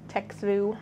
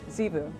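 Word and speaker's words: Txevu: T-X-E-V-U. Zivu. Oh, the T is silent. Yeah, because, I mean, can anyone say that, really? Zivu. Zevu.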